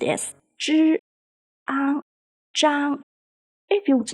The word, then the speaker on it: Zhang: The character zhang follows the first tone, so it is pronounced as zhi, ang, zhang.